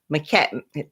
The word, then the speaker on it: McCaghren: on my videos, but the last name is pronounced just like the woman's name, Catherine, but put a Mac in front of it. So it's McCaghren.